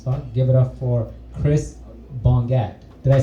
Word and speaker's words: Chris Bongat: Give it up for Chris Bongat.